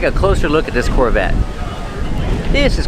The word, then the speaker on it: Corvette: Corvette. The T is a stop T. The E is silent. Corvette. Corvette.